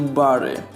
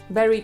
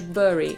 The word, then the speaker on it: Bury: bicia popełniałem ten błąd że zamieniał u na a i czytałem coś w stylu bar No i jak to powinno być poprawnie teraz przyszedł mi pajan i pomoże wymawia Berry tak samo jak zakopać albo pochować ale podobno lokalni mieszkańcy mówią też bury więc są dwie poprawne wymowy Berry i burry dziękuję za pomoc czyli nie Barry Dzięki Stefan następny na